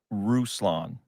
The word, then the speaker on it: Ruslan: get it straight again how did you pronounce your name because I don't want to mispronounce it Ruslan like Tucson or Yukon or futon shout out I like